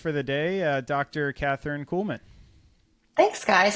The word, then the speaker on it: Kuhlman: And I had done some LinkedIn searching, and I found do you pronounce the last name? Is it Kuhlman?